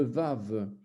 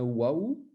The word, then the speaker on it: vav: le hand en allemand, le vav comme la valise. Certains le prononcent comme un waouh, c'est-à-dire que c'est en fait au départ c'était comme ça. Et puis aujourd'hui, certains, les anglophones utilisent waouh, les francophones disent vav, etc.